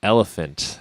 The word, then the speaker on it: ELPHNT: and definitely visit the site elephant that's spelled e l p hn t dot co dot za